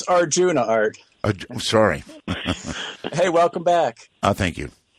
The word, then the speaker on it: Arjuna: It's Arjuna, just like the classic Indian myth. I thought that might have been pronounced with an H.